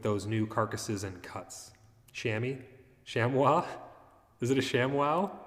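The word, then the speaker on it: chamois: Shammy. That's the weird word. I guess it's I never would have guessed that that's how that pron that's pronounced. Depends where you live. Blimpy says Shamwa.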